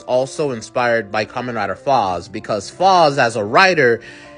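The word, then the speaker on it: Faiz: And lastly, I think common rider zets was also inspired by common rider foss because fos as a writer is name is spelled two ways.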